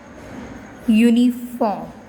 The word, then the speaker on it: uniform: word uniform clip now this word starts with you you is a walk but still here we use why so because when we pronounce this word your sound comes your songs clear your songs comes and your is a